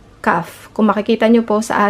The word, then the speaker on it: כ: sa ating whiteboard okay and it sounds like ka pero ang letter po na ito ay may dalawang paraan kung Paano bigkasin kapag ang CF ay may tuldok sa gitna na tinatawag na ito po the gesh Okay ito ay nagpapahiwatig na ang titik ay dapat na binibigkas sa kanyang matigas na tunog ka Okay po kapag walang tuldok ang pagbikas ay ha na katulad ng pagbigkas sa letter het ito ay medyo nakakalito